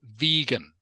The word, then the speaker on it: vegan: Okay, so this last one here, Ming Tam, is pronounced vegan.